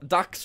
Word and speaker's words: Dax: That Dax rhymes with Hax.